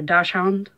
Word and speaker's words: dachshund: way that it's long, it's a dachshund or a dachshund, I believe is how it's properly pronounced.